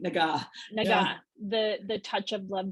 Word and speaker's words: Naga: Hard G, Naga.